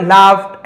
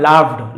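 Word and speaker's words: laughed: The first boy लाफ्ड and said पहला लड़का हंसा तो इसे लाफ पढ़ेंगे। लाफ का सेकंड लाफ्ड लाफ्ड है ना यहां पर यू जी एच इसको और कुछ नहीं पढ़ना है आपको।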